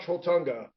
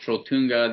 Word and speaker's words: Trolltunga: Now tell me about Trolltunga.